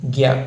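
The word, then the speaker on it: ज्ञ: അപ്പൊ എന്തായി ത്ര അതേപോലെ ജ് പ്ലസ് ഞ ചേർന്നതാണ് എന്ത് ഞ അല്ലെങ്കിൽ ഗ്യ എന്ന് നമ്മൾ ഉത്തരേന്ത്യക്കാരൊക്കെ യ എന്നാണ് ഉച്ചരിക്കാറുള്ളത് മുമ്പ് നമ്മൾ പറഞ്ഞിട്ടുണ്ടല്ലോ അതേപോലെ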